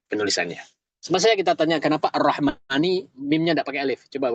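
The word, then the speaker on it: الرَّحْمٰنِ: Mimnya ada alif gak? Gak ada. Mim sama nun nyambung ya. Arrahmani. N ini juga berkaitan dengan ilmu ilmu tapi dalam membacanya gak boleh kita baca arrahmani. Harus panjang mimnya.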